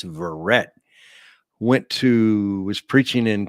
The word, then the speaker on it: Verret: to spell that well there it is verret just like it sounds V as in Victor e r r e t when I was a